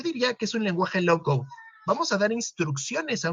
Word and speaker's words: low code: Normalmente se pronuncia sin la E final, low code, que es dar instrucciones de forma gráfica.